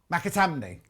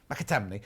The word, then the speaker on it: McAtamney: I know how to say it. McAtamney. Yes. See, it's getting the in the right place. McAtamney.